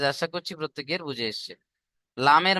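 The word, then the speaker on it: ل: লামের মাখরাজ দেখেন, জিভের আগার কিনারা সামনের উপরের দুই পাশের দাঁতের গোড়ার সাথে, সামনের উপরের দুই পাশের, সামনের উপরের দুই পাশের গোড়ার দাঁতের সাথে লেগে উচ্চারণ হবে লাম।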